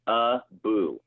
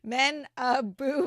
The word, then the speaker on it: Manabu: How do you pronounce it? Manabu. Oh, yeah. I totally said it wrong. Manabu.